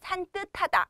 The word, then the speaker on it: 산뜻하다: 이거는 발음을 산뜻하다 이렇게 발음을 합니다.